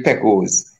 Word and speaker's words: Pekos: But Pekos, you know, it's really Pekos, you know?